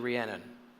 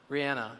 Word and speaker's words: Rihanna: Unless you're Rhiannon. Is it Rihanna? How do you pronounce her name? She won all those Grammy Awards. Rihanna.